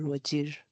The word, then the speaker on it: Wajir: is it and we pronounce it both ways either waj or wajir it's both applicable Where is ah?